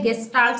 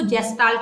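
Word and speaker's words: Gestalt: ठीक है, बिहेवियरिज्म के बाद जो नेक्स्ट स्कूल ऑफ साइकोलॉजी है वो है गेस्टाल्ट साइकोलॉजी। कुछ लोग इसको जेस्टाल्ट भी बोलते हैं, तो ये प्रोनाउंसिएशन का डिफरेंस है।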